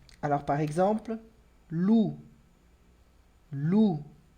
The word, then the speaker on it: loup: Com P, alors par exemple, loup. Loup. Percebe também que esse P do final não pronuncio, d'accord?